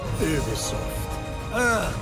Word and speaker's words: Ubisoft: It is actually pronounced Ubisoft.